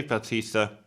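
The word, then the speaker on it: Bautista: comes to find a batista do i say his name right yeah i do um to organize a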